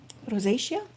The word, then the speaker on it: rosacea: Um, I once had something, um, I actually practiced pronouncing them, but if you could please help me. This. Rosacea? Rosacea.